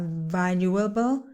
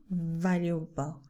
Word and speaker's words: valuable: We use B with quite pronounced teeth outside the lips, okay? Very. And we use the B with the lips closed, okay?